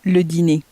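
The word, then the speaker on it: le dîner: prepare the dinner again make sure to pronounce the dinner as ludini and actually dinner in French also ends in ER just as these other words do so it has a similar pronunciation at the end as that Cafe e sound so the cafe e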